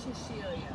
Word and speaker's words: Sicilia: I believe the correct pronunciation is Sicilia, however.